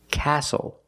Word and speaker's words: castle: seat belt very good we also see the silent T when you have a spelling pattern stle e like these words whistle castle and hustle the t